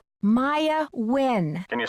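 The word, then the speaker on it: Nguyen: Maya Win. Can you spell that, please?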